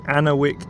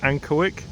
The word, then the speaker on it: Ankerwycke: I think I've pronounced that wrong many times so far, but I think it is pronounced Ankerwycke. So it looks like we're